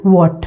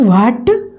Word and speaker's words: what: WH से sound आती है व की, जैसे कि वॉट में, वॉट है ना, इट इज नॉट व्हाट, इट इज वॉट, वॉट is your name.